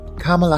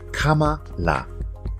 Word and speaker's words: Kamala: career as she got to this new role Kamala Harris was born in Oakland California on the 20th of October 1964 a lot of people are having difficulty with pronouncing her name it's actually quite easy Kamala Kamala repeat after me Kamala Kamala her mother